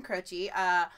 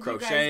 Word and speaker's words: Croce: Jim Croce, Bad Leroy Brown.